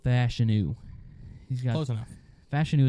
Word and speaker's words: Fashanu: he's got close enough fashanu is how he says he pronounces his name but he said he